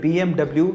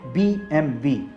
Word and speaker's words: BMW: In fact एक सर्वे के अनुसार 95% तक लोग इसे BMW ही पढ़ते हैं, लेकिन एक्चुअली इसे BMW नहीं पढ़ा जाता। इसका सही उच्चारण है BMW।